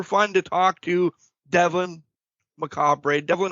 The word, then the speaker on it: Macabre: And it's going to be super fun to talk to Devlyn Macabre. Devlyn, how are you doing today? Macabre.